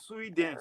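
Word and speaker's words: Suidan: Her last name is Sweden.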